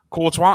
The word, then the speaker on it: Courtois: Is that how you pronounce his name? Yep. Courtois.